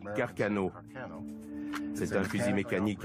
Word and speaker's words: Carcano: On prononce Carcano.